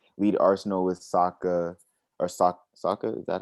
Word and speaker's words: Saka: that one through lead arsenal with saka or sokka is that how you say his name saka yeah but i i know you're like you